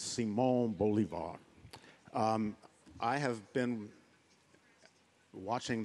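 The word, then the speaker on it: Simón Bolívar: Beauvoir um and um North americanas uh in their Exquisite ignorance of all things Latin America pronounce him almost anything Simon Bolivar in particular um well it's Simone Bolivar um I have been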